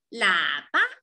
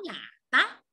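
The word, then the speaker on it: 喇叭: 看看这个音节是怎么读的，l a 喇，l a 喇，b a 吧，没有标声调，它就是轻声，b a 吧，喇叭，喇叭。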